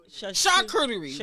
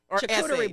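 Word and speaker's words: charcuterie: You said arurerie board or how do you say it shakurerie now say board it's chakuri board shakurerie coochie board.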